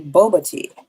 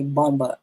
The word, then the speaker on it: Boba: your question Mel logic it is actually Boba she was mispronouncing it so I'm not going to charge you with uh misspelling it there but she did say bomba it is there's no m in that word it is Boba um and yes it